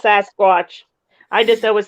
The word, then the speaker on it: Sasquatch: I know she says Sasquatch. I was just gonna let it go. Oh, I always say that. I always say Sasquish. Okay. Sasquatch. I know it's Sasquatch.